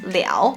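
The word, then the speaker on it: 了: Have you ever wondered why this character is sometimes pronounced as liao and other times it's pronounced as le?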